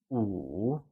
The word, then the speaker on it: 五: 5 translates to 五 and is said with a falling, rising tone. Let's try and say 五.